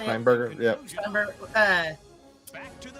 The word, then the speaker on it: Steenburgen: Steinberger, yeah.